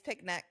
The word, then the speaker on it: picnic: We eat a lot of word that you don't like that I say is picnic. Oh, yeah. Oh, yeah. With a T. No, there's no T.